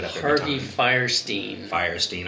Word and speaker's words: Fierstein: every time har firin firestein I always want to say Weinstein but it's firestein and he made the